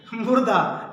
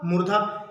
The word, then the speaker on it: मूर्धा: मुर्दा, मुर्दा नहीं, ध्यान दीजिएगा, मुर्दा। ठीक है, चलिए क्लास में पढ़ाया जाता है तो बहुत लोग मुर्दे सुनते हैं, ध्यान दीजिएगा। यानी क्या ऋषि का होता है आपका? मूर्धा।